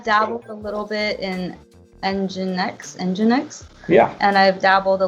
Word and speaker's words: Nginx: He was like, "Oh, let's use Nginx," and he actually spelled like engine X. Like what? Yeah, like engine, like the word engine.